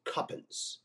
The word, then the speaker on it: Cowpens: he told the crew you were to pronounce it cuppin and I I tell